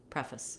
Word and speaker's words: preface: the f to this preface. Fuss. I do have to have some vowel because if I just did preface, there would be no syllable there.